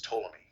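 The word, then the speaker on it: Ptolemy: Silent P. So that's Tomlley is the way it's pronounced.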